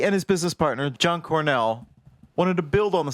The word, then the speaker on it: Cornell: John Cornell, I can never say his name, John Cornell. Like the college.